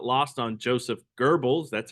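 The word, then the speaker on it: Goebbels: propaganda potential a fact not lost on Joseph Geral that's how you pronounce it the German propaganda Minister believing that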